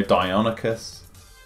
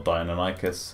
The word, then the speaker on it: Deinonychus: Allosaurus, no Velociraptors, no Deinonychus, or Deinonychus, however you want to pronounce it.